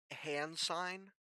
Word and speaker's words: Hansine: the world you guys are in is called hand sign. It is spelled HANSINE.